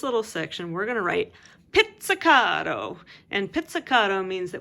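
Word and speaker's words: pizzicato: is spelled this way just like pizza is spelled with two Z's and we don't call it pizza wait you call it pizza it's almost like there's a T sound in there and now you know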